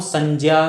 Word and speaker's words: संज्ञा: आ रहा होगा कि मैं कह रहा हूं संजा संजा संजा तो क्यों ऐसा इस प्रकार का उच्चारण मैं क्यों कर रहा हूं तो ये जो ञ अपन यूज करते हैं यह किससे बना होता है ज प्लस य से इसलिए इसको मैं शुद्ध रूप में बोलने का प्रयास करता हूं